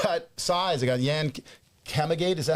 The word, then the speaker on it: Kamagate: They got Yan Kamagate. Is that how you say it? Kamagate? Kamagate.